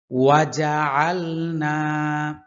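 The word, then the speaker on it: وَجَعَلْنَا: আয়াত নাম্বার হচ্ছে নয় ওয়াজ আলনা না এখানে এক আলিফ টান হবে আল আইনের উচ্চারণ কণ্ঠনালীর মধ্যখান থেকে হবে ওয়াজ আলনা অনেকে বলে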